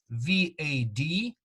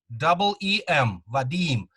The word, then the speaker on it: Vadim: Yes, you can either you can either spell it as Vadim or go Vadem, Vadim. So it is more prolongated, Vadim.